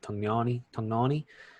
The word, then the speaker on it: Tognoni: So referee Chris Tognoni, it's Italian, so I think that's how you pronounce it. Tognoni.